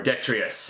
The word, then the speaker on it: Detritus: And yes, indeed, we plug along with the Legacy Evolution Detritus. Or Detritus. It's pronounced a couple of ways. I actually looked at the phonetic spelling of it. I like the pronunciation detritus.